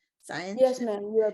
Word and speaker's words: Scientia: Am I pronouncing it correctly? Scientia?